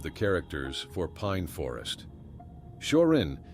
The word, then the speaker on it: Shorin: Shorin is the Chinese pronunciation of the same characters, and the origin of the name Shorin-ryu is the Shaolin Buddhist temple in China.